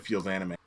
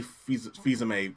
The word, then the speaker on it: Fils-Aimé: It's actually Fils-Aimé, right? It's actually Fils-Aimé. Okay. Thank fucking God, because I was just gonna pronounce it wrong if I hadn't said feels anime.